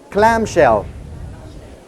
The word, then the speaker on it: clamshell: cher non alors petit petite leçon de prononciation en anglais et si le répétez après moi clame cher club cher au hockey club cher c1 c'est un coquillage